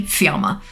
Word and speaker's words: Fiamma: And in Italian, it's pronounced roughly Fiamma. Obviously with more of an Italian accent that I do not have.